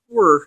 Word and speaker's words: Wer: We're because apparently you pronounce it werewolf. We're, but it's WER. We're.